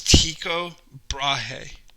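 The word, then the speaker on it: Tycho Brahe: a lot of argument how do you say this guy's name but it's tico brahe okay um so he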